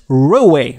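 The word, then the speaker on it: Roewe: For instance, SIAC bought failing British Rover and turned it into the Chinese Roway. That's how the Chinese pronounce the brand.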